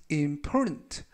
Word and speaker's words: important: The beginning, 시작이 is important, 중요하다. 이때 important 하면 중요한 이라는 형용사가 되겠고요. 중간 부분에 있는 T 발음이 묵음은 아니지만 거의 발음이 되지 않습니다. 그래서 important가 아니라 important 라고 발음하시면 좋겠습니다. 즉 전체적 의미는 시작이 중요하다 라는 뜻이 되겠습니다.